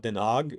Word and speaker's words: Den Haag: or so, mainly in Amsterdam, then the Hague, Den Haag, or as it's properly pronounced.